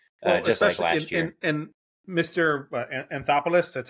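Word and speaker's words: Anthopoulos: a solid margin just last year and Mr anthopolos that's how you say his name he's doing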